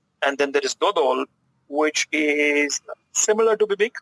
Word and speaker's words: dodol: But personally, I prefer dodol to bibink. Okay. How do you pronounce it?